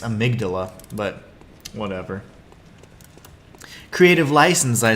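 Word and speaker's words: amygdala: um I I know that they call it a migdala I mean a migdala is um a much more beautiful way to pronounce it and that's the way patches pronounces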